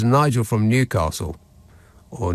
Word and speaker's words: Newcastle: receive the same friendly service says Nigel from Newcastle or Newcastle as it's more properly pronounced um yes but I wasn't talking about